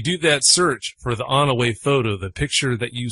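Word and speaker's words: Onaway: Yeah, it's called the On-Away photo.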